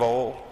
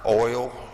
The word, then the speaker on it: oil: olive oil uh oil never have understood how that can be a one syllable word oil that sounds like to oil down South we say oil you know but you know what is Southerners we don't care we say it that way anyway the purpose of